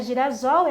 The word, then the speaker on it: girassol: gira e não é Girassol Girassol então eu vou colocar um duplo s por isso que Girassol se escreve com dois ésses para você falar exatamente desta maneira a palavra anti social